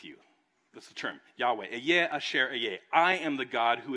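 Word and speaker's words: אהיה אשר אהיה: And when he says, I am who I am, in Hebrew, you would pronounce it, Eyeh Asher Eyeh.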